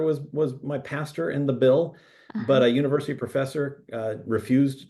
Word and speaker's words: Bil: My grandfather was my pastor in the Bill, but a university professor refused to call a grown man Billy. So in response, I dropped the second syllable of and kept the Bill, the BIL.